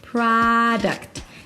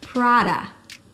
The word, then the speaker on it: product: There is no O, so it's not product, but an open a sound. Product. Think of it as the devil wears product. The devil wears product. Product. And then the second syllable is reduced.